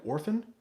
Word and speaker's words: often: Maz says Queen Elizabeth pronounces often like orphan.